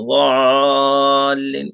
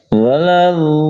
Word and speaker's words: الضالين: है वलज़ालिन ولا الضالين आइन की आवाज नहीं आना चाहिए ज़ालिन इस तरह नहीं वलज़ालिन वलद्दाल्लीन।